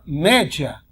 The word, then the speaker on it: média: regrinha né a palavra média média média Pois é média Olha lá palavra paroxítona que a sílaba tônica é a penúltima e olha aqui no